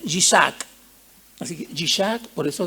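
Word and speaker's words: יצחק: Viene del hebreo, ¿ya? Que se pronuncia Yishak.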